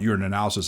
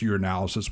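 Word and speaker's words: urinalysis: or UA your analysis I always mispronounce it I just call it you're an analysis of his two words but it's your analysis which is one word and that looks at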